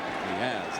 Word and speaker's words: Diaz: Diaz, excuse me. That's the proper pronunciation.